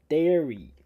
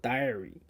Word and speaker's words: dairy: section next area is dairy dairy okay it's not diary Diary is the things that you wrote your story or notes on it so what happened today you keep the diary but here is Da